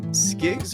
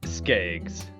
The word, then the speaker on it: Skaggs: Before we do anything important here, is it Skiggs or Skaggs? Your last name? Skaggs. Skaggs. So I was wrong on both times. I think it's more the Minnesota accent and pronunciation. We always, and I got to catch myself because I always say like bag. Well, it's bag, right?